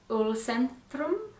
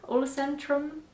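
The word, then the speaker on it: Ullcentrum: i believe it's pronounced ulcentrum olacentrum it's swedish so put a swedish accent on that it's beautiful i've got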